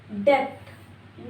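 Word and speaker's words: debt: ये है डेप्ट। No this is डेप्ट। बी is silent. डेप्ट है। डेप्ट नहीं है।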